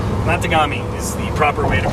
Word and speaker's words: Matagami: Matagami. Yeah. Yeah. Matagami. Matagami is the proper way to pronounce that.